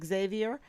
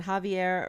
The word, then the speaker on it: Javier: District Judge uh Javier you can say Javier in Spanish um my really good